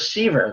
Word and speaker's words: Seaver: won't remember who was siever that was it rhymes with fever which is why i